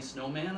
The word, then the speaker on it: Snowman: So they decided to hire a civilian keeper about 10 years ago, Sally Snowman, and that is how she pronounces her name.